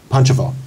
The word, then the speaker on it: Pančevo: Pančevo. Yes. I'm sorry. Yeah, Pančevo.